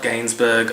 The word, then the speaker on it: Gainsbourg: Charlotte Gainsbourg, I think is how you pronounce it.